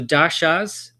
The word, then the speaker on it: dasha: So, dashas and it's the emphasis on the a because it's got a dash over the a and so it elongates the a sound or a.